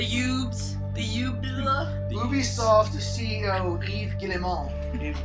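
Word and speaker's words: Yves Guillemot: the yub Ubisoft CEO Eve gilon says the lack of that's his name French say it like that cuz he's French what did you say what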